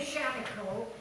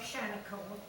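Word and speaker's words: Shaniko: The name Shantycoke is the Indian pronunciation of Auguste Chanticleau's last name.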